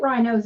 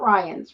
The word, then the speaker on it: Rhinos: We're gonna have to hit rhinos at some point. Yeah. Rhinos, not Ryans, right? Yeah, rhinos, RHINO. Yeah, I think it's Do a they do Shell other station.